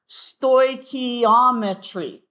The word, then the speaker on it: stoichiometry: the beginning, is called, the topic is called stoichiometry. Stoichiometry. Often we just refer to it as stoic, okay, because it's just a little easier, but stoichiometry, accent on the ometry.